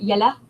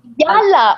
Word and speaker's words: Yalla: Yella. I don't know if I'm pronouncing it right. Come on, let's go. We need to hurry. Yella. Yalla. Oh my God. Yalla. Yep.